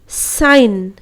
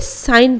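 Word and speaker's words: sign: और इसको पढ़ने हैं साइन यहां पर हम लोग सहजन नहीं पढ़ने हैं बल्कि साइन पढ़ने हैं डिजाइन एलेन रेजिन इस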